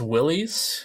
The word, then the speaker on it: Willys: Is that how you say it? Willis? I think it's Willys. Okay, I think that's how I've heard it pronounced too.